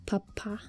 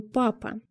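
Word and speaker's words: papa: 200 лет назад происходит от французского папа ударение на последний слог папу заимствовали сначала дворяне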